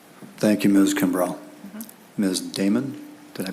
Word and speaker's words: Damon: Damon, did I pronounce that correctly?